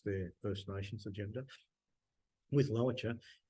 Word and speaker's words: Lowitja: And now you've recently started working with am I pronouncing it right, the Lowitja Institute?